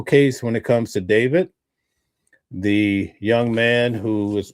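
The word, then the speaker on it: D4vd: It's pronounced David, but it's spelled with a 4.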